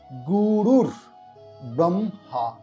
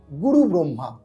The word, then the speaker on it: গুরুর্ব্রহ্মা: প্রথম যে রয়েছে গুরুর ব্রহ্মা। আমরা অনেকেই এই জায়গাটা ভুল করি, গুরু ব্রহ্মা।